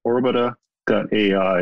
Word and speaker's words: Orbita: You can get a hold of me personally by just emailing me at Nate, N-A-T-E, at orbita.ai. And Orbita is spelled O-R-B-I-T-A, just like orbital without the L.